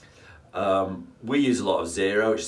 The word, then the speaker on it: Xero: We use a lot of Xero, which is spelled Xero, because we think it's particularly visually appealing, but on the downside, it is a little bit more expensive.